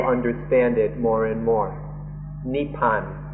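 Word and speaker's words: นิพพาน: In Thai, this word is nippan, or in Pali, nippana, or written in the West, we pronounce it more nibbana, and then in Sanskrit, nirvana or nirvana.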